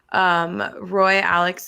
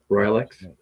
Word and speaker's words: Royalex: And after those pictures, you showed some pictures of like the Roy Alex holes. Am I pronouncing it right? Royalex? Royalex. Sorry, Royalex. I knew that was wrong.